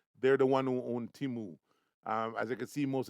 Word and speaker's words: Temu: in the US and that's teamu t-e-m-u it's pronounced timu and basically what they do is that they